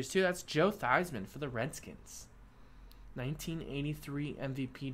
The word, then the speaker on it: Theismann: think wanted him to change the pronunciation a Theismann so it sounded like Heisman so that people would